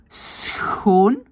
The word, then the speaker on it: schoon: Mais donc, c'est cette combinaison schrijven, schoon, donc c'est un S, un Ch et tout le reste, schoon. Et donc, la prononciation de Schild en Vriend, c'était donc le son du Ch qui était difficile et le R qu'on roule.